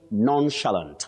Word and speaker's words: nonchalant: That is an adjective and you say nonchalant. The stress is at the onset. That is the beginning of that word.